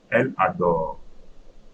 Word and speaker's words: elle adore: Elle adore. Elle adore. Also, I'm not pronouncing E.